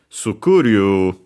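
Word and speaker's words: スクール: In Japanese, it actually is accented on the C, sukuru, so low, high, and everything else low.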